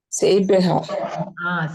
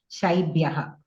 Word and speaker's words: शैब्यः: And your shakara also, you are pronouncing like sakara. That also you, like shaibhyaha. Say shaibhyaha again. Saibhyaha. Saibhyaha antunnaru. No, shaibhyaha.